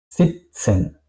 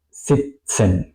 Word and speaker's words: sitzen: Sitzen, sitzen, estar sentado, estar sentada. Aquí podéis ver, se pronuncia más o menos como una T y una S, ¿ok? Es decir que aquí es Katze, sitzen, con una S muy larga.